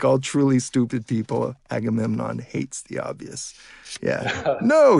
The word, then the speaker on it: Agamemnon: a better idea agamenon how should I properly say that by the way agamenon or Agamemnon a agamon okay so you do pronounce it Agamemnon is always getting a